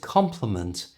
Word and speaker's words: compliment: know the difference but compliment which is a polite expression of Praise is slightly stronger at the beginning compliment you try whereas compliment which means it completes something or makes it better has more stress at the end complement try that compliment